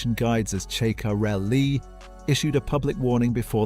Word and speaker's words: Ceccarelli: His mental coach, Riccardo Ceccarelli, whose pronunciation guides as "Che-ka-rel-li", issued a public warning before the summer break